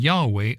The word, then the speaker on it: Yahweh: This is simply one of many situations where Jesus and Yahweh are used interchangeably.